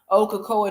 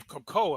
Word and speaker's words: Cocoa: This is not, Cocoa just now stumbled on Paris. I was watching Paris when she first. Oh, so I guess she pronounces her name Cocoa. Okay, I thought it was Coco.